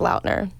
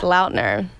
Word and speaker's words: Lautner: came up got it his last name was actually pronounced laudner really yeah oh my